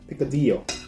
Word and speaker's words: picadillo: area mga Latin America picadillo picadillo Ayan yata yung pronunciation e Kasi sa atin sa atin sa Pilipinas picadillo because of the double l Yeah Pero sa States